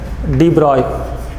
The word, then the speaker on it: de Broglie: explained this later on Louis de Broglie should be pronounced as deployable this man in the